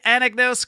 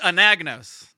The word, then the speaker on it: Anagnos: go I am ready did I emphasize the correct syllables on your last name let's start there um no but that's okay so it's an agonist yes that's correct professional podcasters would have